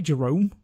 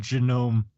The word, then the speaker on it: Genome: Did you say Jerome? Lord Genome. Oh, Like Lord genome? Like the human genome?